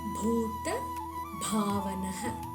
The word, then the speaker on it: பூத பாவன: பூ பூ பூதாத்மா பூதாத்மா அனைத்து உயிர்களின் உள்ளேயும் இருப்பவர் ஆத்மாவாக இருப்பவர்னு அர்த்தம் பூத பாவனக இங்க பூ பிஹச்யூ சவுண்ட்லையும் பா பிஹச்ஏ சவுண்ட்லையும் சொல்லணும் பூ பூ பாத்த பாவனக